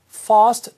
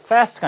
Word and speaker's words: fast: 하고 how much would it cost for fast delivery? 이렇게 얘기합니다. fast가 아니라 fast. 그죠? 우리 파트 1에서 path. 파트 2에서 맞죠? path 나왔던 것처럼 같은 얘기죠. ask, fast, 뭐 path 이런 발음이 됩니다. 영국식 발음.